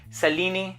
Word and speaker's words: Selene: on the bottle, and Selene is how it's pronounced in Greek, and I'm a huge